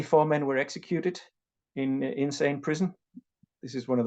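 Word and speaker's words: Insein: men were executed in insane prison this is one of the most notorious prisons in Myanmar it's not spelled insane but you do pronounce it insane which is an irony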